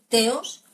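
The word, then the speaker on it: θεός: teos, tal y como lo pronuncia y tal y como lo expresa Aristóteles.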